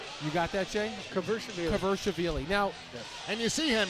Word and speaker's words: Kvirchishvili: No, Mike Falvo had it phonetically. Kvirchishvili. Yes. Kvirchishvili. You got that, Jay? Kvirchishvili.